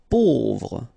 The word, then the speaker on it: pauvre: Pauvre. A, U together will produce this O sound.